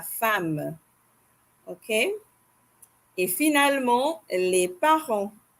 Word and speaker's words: femme: Je vais répéter: la mère, la tante, la femme, not la femme. Okay, that's the English pronunciation, mais en français, on dit la femme.